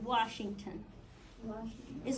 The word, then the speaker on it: Washington: um stress stress placement strongest syllable in Washington is wash correct it's wash but